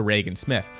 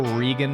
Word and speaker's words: Regan Smith: I also like to apologize to Reagan Smith my Texas accent slipped through I went full Regan mode for an entire video had a lot of